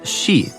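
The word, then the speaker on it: 四: In Japanese, the number four can be pronounced she and the word for death is also she.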